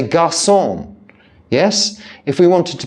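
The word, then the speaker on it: garçon: sadilla under a sea in French we don't pronounce just because we're English um gon we don't say gon in the restaurant in Paris we say gon yes if we wanted to be pretentious and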